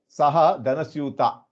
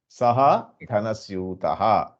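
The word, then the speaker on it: सः धनस्यूतः: many of you telling there Saha dhanasyuta. If you eat the visargaha, it won't make the full meaning. If it is visarga, it should be pronounced Saha dhanasyutaha.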